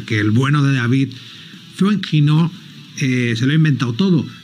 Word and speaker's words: Foenkinos: Es este número 2 de David Foenkinos, o bueno, pronunciado francesamente, Francisman David Foenkinos.